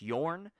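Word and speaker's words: Bjørn: I cannot pronounce his name because it's super Scandinavian, but it's Sjorn, and I think it's pronounced Yorn.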